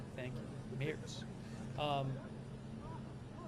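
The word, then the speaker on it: Merz: Oh, Mayors, I guess it's pronounced Mayor is one of the people says Wikipedia says that too. Thank you. Mayors.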